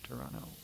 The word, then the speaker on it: Toronto: And the way you know I'm from the Toronto area is I don't pronounce that other T.